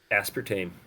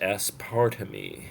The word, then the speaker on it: aspartame: being at the cause aspartame really I used to think it was s part of me S part of me